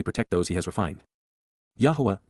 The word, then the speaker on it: Yahowah: Yahowah, Yahowah, the proper pronunciation of Yahowah, God's personal and proper name